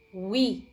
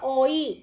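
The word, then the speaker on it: oui: Untuk yes adalah we. Jadi jangan dibaca oi. O we no. Tapi cukup w i we.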